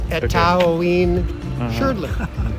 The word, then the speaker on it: Etaoin Shrdlu: So yeah, you can, if you speak Spanish, you can pronounce all the vowels. Etaoin Shrdlu.